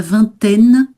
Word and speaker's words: vingtaine: Et donc, j'avais noté aussi la vingtaine, hein, bien accentué sur le N, la vingtaine.